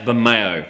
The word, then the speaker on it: Bermejo: It's pronounced Bermejo.